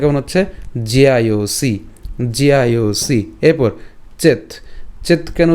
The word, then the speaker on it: জ্যায়োসি: কেন জিআইওসি? এখানে আমাদের কি আছে? জফলা আছে। তো জফলার উচ্চারণটা আমরা জানি যে জফলা থাকলে কার মতো উচ্চারিত হয়? ইয়র মতো হয়। তো বর্গীয়াজের সাথে ইয় এবং আকার একসাথে যদি আমরা উচ্চারণ করি তখন এর উচ্চারণটা কেমন হবে? জিয়া।